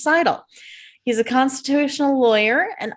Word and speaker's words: Seidel: Seidel is a Seidel. I got to correct myself on that. The correct pronunciation is Seidel.